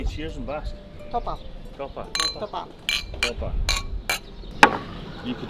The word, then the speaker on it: topa: Topa.